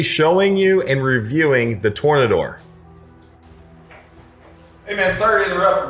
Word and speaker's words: Tornador: It's not the Tornado. It's actually called the Tornador, but it's funny that you said that because people always mispronounce it, especially detailers, but I'm in the middle of a video.